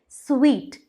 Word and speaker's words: suite: जिसे हम कहते हैं स्वीट। स्पेलिंग होती है SUITE, बट हम इसे प्रोनाउंस करते हैं स्वीट।